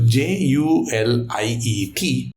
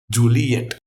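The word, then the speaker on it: Juliett: So by putting an extra T on it, you know, the French guys will say Juliet in grammar, you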